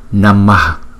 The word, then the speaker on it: namaḥ: Cái chữ H có dấu nặng ở dưới, chúng ta đọc là Namah, Namah, Namah, Namah.